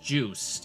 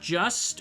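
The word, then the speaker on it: Juste: That's right, it's pronounced Juiced. It's not just or just a, so I don't want to hear anybody cry that I'm saying it wrong.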